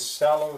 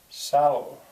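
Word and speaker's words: sallow: to Thea again with salow skin salow did I spell that right yep which is stressed first syllable right I could always check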